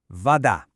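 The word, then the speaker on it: вода: In Russian, we say vada. Now, the key here is that the stress is on that second syllable, the da.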